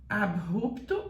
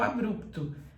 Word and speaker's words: abrupto: é Ru quando é assim você tem que falar com o som do R arrastado a rupto ou a bruto abrupto ou abrupto muito cuidado com isso